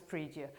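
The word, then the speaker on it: pridie: speaks Latin has told me that this is pronounced as predia so the preier know of February would be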